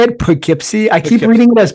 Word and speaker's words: Poughkeepsie: Poughkeepsie. I keep reading it as Portuguese.